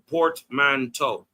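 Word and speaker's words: portmanteau: So, how do you pronounce it? Port manto. Yeah. Port manto. Port monto.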